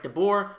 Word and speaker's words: de Boer: They have sacked Frank de Boer, which rhymes with 0-4, so maybe that was exactly what he went for.